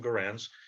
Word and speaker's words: Garand: ii when people wanted m1 garands um some people pronounce them goran's uh in 30 odd